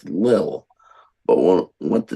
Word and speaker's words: Lille: Oh, Is it pronounced the Lul? The Lul? No, I think it's Lille.